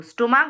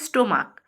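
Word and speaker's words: stomach: তো স্টমাক বানান হচ্ছে এসটি ও এম এ সি এইচ। ওখানেও দেখো সিইচ আছে। কিন্তু এর উচ্চারণটা হচ্ছে স্টমাক।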